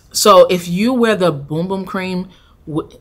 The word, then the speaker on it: Bum Bum: When I did the partnership with them, they were like, make sure you say Boom Boom instead of Bum Bum.